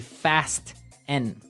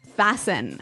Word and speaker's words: fasten: It's spelt F-A-S-T-E-N. Right, so it would be fast N. No. No, right? Fasten. Fasten. The Fasten. T kind of becomes silent. So it's fasten.